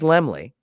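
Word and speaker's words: Laemmle: company independents were carl lemley by the way it is lemley i i looked it up uh it is silent and means little lamb there's a great youtube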